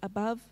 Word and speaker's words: above: we need four but we need to hold up the v with a silent e so we need five